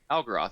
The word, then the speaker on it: Algeroth: Algeroth.